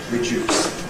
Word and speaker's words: reduce: ‘Tuesday’ To ‘reduce’ something sounds just like ‘juice’ , ‘orange juice’ . ‘reduce’ And this is